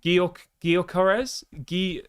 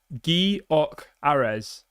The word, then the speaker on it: Gyökeres: Gyökeres?